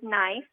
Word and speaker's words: knife: said knif so Charlie gave the word knife oh that's a good one starting with a with a silent k huh and so who